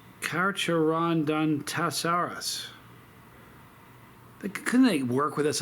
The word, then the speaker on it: Carcharodontosaurus: Okay, number 10 is Carcharodontoso. Carcharodontoso. Listen. Look at that word. Tell me how you would pronounce that. Isn't that something? Anyway. Oh, no, hold on. It's Carcharodontosaurus.